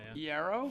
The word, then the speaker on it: Iero: Is that how you pronounce his last name? Iero? Frankie Iero, yeah.